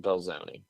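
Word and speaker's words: Belzoni: Um believe that's pronounced Belzone.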